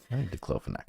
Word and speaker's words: diclofenac: I don't know how to pronounce that. Dclofenac is right.